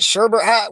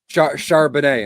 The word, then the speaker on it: Charbonnet: Is it Sherbert? What's the backup's name? Zach, how do you say that? Charbonnet in Seattle.